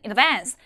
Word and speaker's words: in advance: 그다음 미리 사에라 뜻하는 in advance in advance 백날 그렇게 스펠링 외워 봤자 우리 음원에서는 inovance inovance 영국 발음 inovance inovance라고 들리면 어 뭐지 내가 하는 단어인가라고 당황하실 거예요 그다음 should have p고